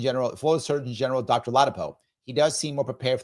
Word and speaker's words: Ladapo: JGJ said it's pronounced Latapo." Thank you. Um with with General uh Surgeon General Florida Surgeon General Dr. Ladapo.